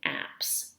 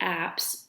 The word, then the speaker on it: apse: the far end of the nave is an apps the apps apse if you're wondering how that's spelled is the altar for clergy to conduct